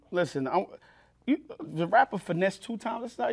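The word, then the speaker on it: Finesse2Tymes: to be um listen I you the rapper finesse two times that's how that's how you say his name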